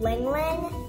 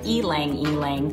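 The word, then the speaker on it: ylang-ylang: And 7 drops of this, it's called ling ling. Yeah, it looks like elang, but it's actually pronounced ling, I've been told, and I'm not sure why.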